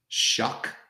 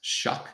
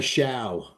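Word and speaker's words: Shough: benched Spencer Rattler and they're going with Tyler Shuck. That's how it's pronounced. Shuck. Even though if you look at it, you would say Sha. Yes, Tyler Shia, but it's actually pronounced shuck.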